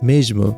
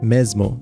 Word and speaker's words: mesmo: letter S is that before a voiced consonant, it turns into a j sound in European Portuguese. Meanwhile, in Brazilian Portuguese, it just turns into a z sound. For example, the word for same would be pronounced as mesmo in European Portuguese, but in Brazilian Portuguese, it would be pronounced something like mesmo.